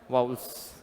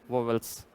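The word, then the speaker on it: vowels: वाउल्स, ना कि वोवेल्स।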